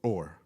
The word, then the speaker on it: Ur: But he was from Ur. You pronounce it Ur, Or not your, like, Ur.